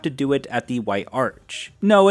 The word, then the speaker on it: White Arch: Anyways, you go back to the White Arch, which I'm just now realizing I've been pronouncing as the White Ark, just ignore that.